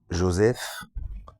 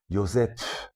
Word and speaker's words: Joseph: avec un H, enfin c'est pas avec un F, ça se prononce F, mais c'est PH, comme si à la base le son F de cette manière-là, c'était comme si on soufflait après le P, Joseph, vous voyez.